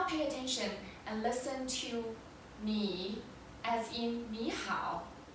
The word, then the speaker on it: 你: 以你 So this is how you pronounce 你 as in 你好.